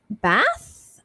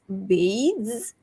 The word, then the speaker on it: bathes: Okay, for this one, you have to have the diphthong, the two vowel sounds. So it's bathe, so it's not ba, it's bathes, bathes. So you land on a z sound, bathes.